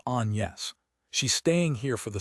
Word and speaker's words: Agnès: "Lizzie, this is Agnes," Shari says, only she pronounces it the French way, which is Agnès.